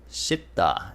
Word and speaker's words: 씻다: 씻다. That sounds pretty strong, right? The double S sound. So it's double S as a consonant with the vowel E with the 받침 S.